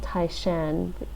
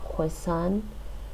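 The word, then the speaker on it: 台山: My family comes from what's now called Taishan, based on the Mandarin pronunciation of the place. But in the native very into Chinese, the native language there, it's called Hoisan. In Cantonese, it's called Toisan.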